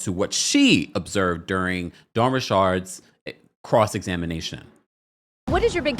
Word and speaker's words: Richard: As someone that has spoken and interviewed Dawn Richard multiple times, that is the way you pronounce her last name.